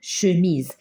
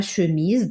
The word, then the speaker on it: chemise: C'est une chemise. La chemise, donc, on va mettre un seul S entre deux voyelles, ça se prononce Z.